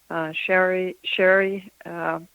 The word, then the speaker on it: Shari: Shari is spelled S-H-R-I, not Sherry. I say that because I have a cousin named Sherry. So it's Shari Botwin, has